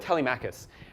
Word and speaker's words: Telemachus: other thing is Telemachus is that are you pronounce it Telemachus yeah okay let's go with Telemachus this is for your web developers in the